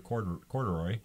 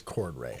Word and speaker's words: Cordray: Corduroy. Corduroy. Yeah. What is the correct pronunciation? I hear both. It looks like it's Cordray. I think it's Cordray. I think it's Cordray. Cordray is correct, but that's what you